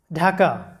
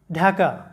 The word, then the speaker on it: ঢাকা: এরপর মনে রাখবে যে ডি এর পরে এইচ থাকলে ডি এর উচ্চারণ ঢ অথবা ধ হয়, বাংলায় ঢ অথবা ধ এর মতো যে সাউন্ডটা সেটা হয়।